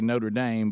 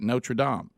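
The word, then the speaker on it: Notre-Dame: If you're in America and you're looking at the exact same word in Indiana, you say Notre Dame. But if you were in Paris because you're in France, you would say it the way the French say it. Notradam.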